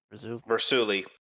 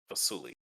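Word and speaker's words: Vassulie: Vasuli, Versulu, Versuli. Versuli. V-E-R or Oh. V-A-S-S-U-L-I-E. Yes. Vasuli. There's no R in it.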